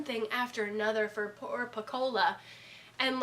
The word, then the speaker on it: Pecola: interesting and I appreciate the fact that poor Pecola that's how I say her name piccola that's okay the people who had a hand